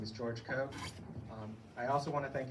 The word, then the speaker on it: Koch: And we have a third candidate for Municipal Budget Committee, George Koch. Did I say it wrong? No, you got it right. Thank you, everybody. My name is George Koch.